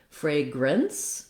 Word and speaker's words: fragrance: So in the word fragrance, we have the same pronunciation as fragrant, but instead of the NT sounds, fragrant, we have an S sound at the end. So fragrance, spelled with CE, we would just have a fragrance, we'd have an N and a S at the end. So rather than fragrant, it would just sound like fragrance.